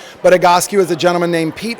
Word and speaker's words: Egoscue: exciting for me um but tell us about igascu yes first of all thank you for saying it correctly because you will all be tested on the spelling and the pronunciation but a gosku is a gentleman named Pete egosque where coming